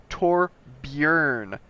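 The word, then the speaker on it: Torbjörn: us and has said that it is really tore bjorn Torbjorn Torbjorn so you're supposed to say Torbjorn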